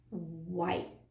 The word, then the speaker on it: white: And that E is silent, so it makes that I long. It says his name. White.